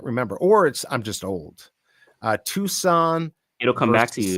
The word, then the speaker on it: Tucson: Tuscan said, I keep saying it wrong. Tucson.